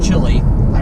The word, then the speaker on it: Chile: Love to get down to like to Argentina, Chile, or Chile. Chile is is the Spanish way of pronouncing Chile.